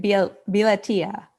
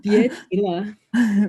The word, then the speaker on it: 别提了: 别了tia. No, I said it wrong. 别提了.